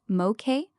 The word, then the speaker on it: Moek: Tropical Storm Moek, pronounced Mo- Kay, formed Friday and is the primary near-term weather concern for Hawaii.